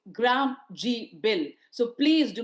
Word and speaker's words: Gram G: But don't change names and say it's G Ram G, it's Gram G. That's how the pronunciation is.